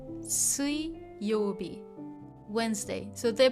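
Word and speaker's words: 水曜日: The reading changes and mizu or sui is pronounced sui, not mizu in this case.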